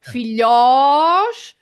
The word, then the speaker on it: filhós: So filhós, and it's oh, there we go, Carl, with our open oh.